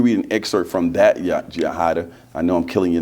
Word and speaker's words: Yajaida: And before you read an excerpt from that, Yajaida, I know I'm killing your name, but No, you actually did it we got perfect.